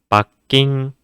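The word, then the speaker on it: 罰金: 이렇게 적을 수 있겠지만 받침에 힘을 줘서 조금 끌어서 밖인 밖인 이렇게 발음을 해 주셔야 되구요 그렇다고 해서 이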